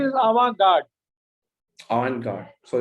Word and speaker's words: avant-garde: ideas, including his study of the modernist and avant-garde development of his times. No, the correct pronunciation is avant-garde.